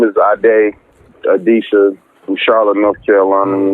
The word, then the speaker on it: Ade Adisa: Nah, my name is Ade Adisa from Charlotte, North Carolina, you know.